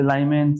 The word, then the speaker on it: Lyman: या लीमेन, how you, doesn't matter how you pronounce it। so some people say Lyman, some say Lyman, okay, doesn't matter, Lyman series।